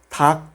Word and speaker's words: 닭: Solamente lo pronunciamos la segunda consonante. Por ejemplo, 닭, que significa pollo. Repite conmigo. 닭.